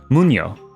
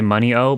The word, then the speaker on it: Muno: money yeah okay simun most just say money o but no I'll say I want to I want to pronounce people's names however they want me to pronounce it so um Muno okay first